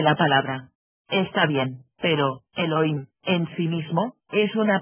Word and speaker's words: Elohim: Eso significa Elohim o mejor dijer amos Elohim porque la H se pronuncia como J estos Elohim como quiera